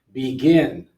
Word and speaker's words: begin: Begin, second syllable.